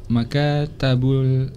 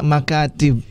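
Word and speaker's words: مكاتب: Hazihi makatabul tullabu. Boleh diulangi lagi cara bacanya. Maktab itu bentuk jamaknya makatib. Makatib. Ya, bukan makatab, nggak ada.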